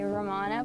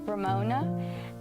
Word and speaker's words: Ramona: It's supposed to say Ramona, but he says Ramona.